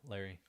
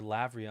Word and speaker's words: Lavry: Larry by the way I thought it was um an R this whole time but it says l a v r y so I'll start saying lavry or Lavery uh I like